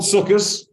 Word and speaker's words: Sukkos: 3,335 years from the day the Jews left Egypt, there's been a holiday called Sukkos, or Sukkot, if you have a Sephardic pronunciation.